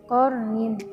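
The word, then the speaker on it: قَرْنٍ: Lalu pada kalimat qarnin itu ada hukum bacaan ro tafkhim karena ro sukun jatuh setelah harokat fathah, maka cara membacanya ditebalkan qarnin.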